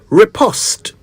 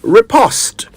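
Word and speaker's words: riposte: s t e repost it's worth mentioning that the English say repost but the Americans say repost and as I always remind you the national language of Ghana is English not American so we are going with repost a repost is a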